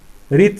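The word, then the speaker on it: wreath: ये इसका जो ये होता है, इसका जो प्रोनाउंसिएशन होता है वो किससे होता है, रीत से होता है।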